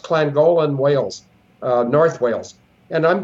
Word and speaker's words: Llangollen: It's pronounced Llangollen, Wales, North Wales.